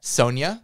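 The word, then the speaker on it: Sonya: friend whose name is spelled s o n y a and some people pronounce that Sonia oh and my friend doesn't mind if you call her Sonia and I think that if she's introducing herself she'll often say my name is Sonia uh but that's a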